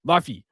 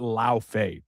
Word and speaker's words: Laufey: I'm like, that's how you say it. It's an English saying the way you want to say it, not Lao Fei. That's stupid in my opinion.